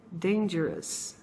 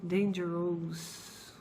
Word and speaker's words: dangerous: O correto, então, da gente dizer seria dangerous, dangerous. Muitas pessoas ainda pronunciam dangerous, com, claro, também fazendo uma referência à língua portuguesa. Só que o correto, gente, como se a gente estivesse falando assim, Então, lá no finalzinho, você tem que dizer assim, dangerous, tá? Não dangerous.